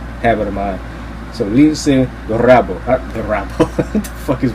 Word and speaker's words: Lince Dorado: And then we got what I thought was the match of the night, Lince Dorado. He's Puerto Rican, so you got to do the Spanish pronunciation, habit of mine. So Lince Dorado, what the fuck is wrong with me?